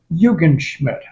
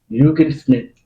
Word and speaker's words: Yugan Schmid: Bob ymid what how do you say it yugan Schmid yugan Schmid German German oh are you from German no